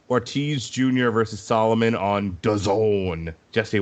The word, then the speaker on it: DAZN: versus Solomon on DAZN. Jesse, what does DAZN rhyme with? Calzone, sir.